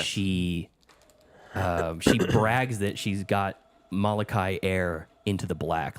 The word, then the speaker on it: Molokai: I'm not going to even attempt to pronounce it. Molokai. Molokai, that's it.